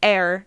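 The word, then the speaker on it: ēar: This symbol is an Anglo-Saxon rune air, and yes, pronounced like air, not like ear.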